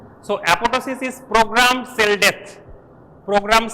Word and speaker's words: apoptosis: is it is not apoptosis it is apotosis right second p is silent so apotosis is programmed cell death